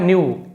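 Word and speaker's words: know: Only his wife न्यू केवल उसकी पत्नी जानती थी के साइलेंट है। के एन एक साथ होता है तो के साइलेंट होता है।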